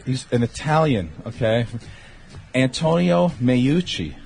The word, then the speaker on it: Meucci: name is int he's an Italian okay Antonio Meucci mayucchi yes how's he spell it meu CCI my grandmother's name is MUCC